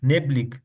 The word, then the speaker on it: neblig: हमने एक पीछे देखा था ना, जब भी गे आ जाए एंड में तो वो खा आवाज निकलता है। विंडिक, नेबलिक, विश्तिक, वेनिक, रिश्तिक, जेशिक।